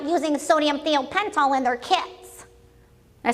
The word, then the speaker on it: thiopental: Hospira makes a drug, or used to make a drug called sodium, I've been told I say it wrong, it's thiopental, okay?